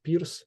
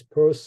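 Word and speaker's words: Peirce: so here in Ukraine this last name of Pur is pronounced as Pier and I I don't know why that's why why we were discussing something in Pittsburgh when you actually pronounced his last name is Pur I uh didn't get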